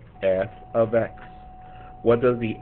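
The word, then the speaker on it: f(x): so you guys can see it this is pronounced f of x f of x what does the f stand for the f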